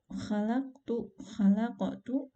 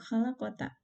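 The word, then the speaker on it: خلقت: Jadi yang harusnya dibacanya khalaqtu, aku telah menciptakan, kemudian dibacanya menjadi khalaqota, kamu telah ciptakan, itu menjadi berbeda sekali dalam maknanya.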